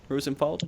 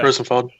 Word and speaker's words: Rozenfald: Rozenfald? Yep. Okay. Rozenfald.